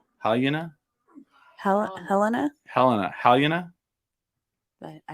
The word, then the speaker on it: Halyna: How do you say her name? It's Halyna.